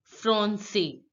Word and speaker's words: français: This accent means that you have to pronounce this sound as an S, not C. For example, français. Because of this accent, you will pronounce the C sound as an S sound, and the pronunciation will be français, français, français, français.